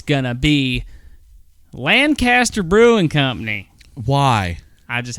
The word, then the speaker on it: Lancaster: All right, here we go, and it's going to be Lancaster Brewing Company.